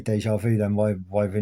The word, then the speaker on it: Yeshua: Now, some people would maybe, but I didn't know his name was Yeshua. Yeshua. Um three syllables Hebrew. And it got changed to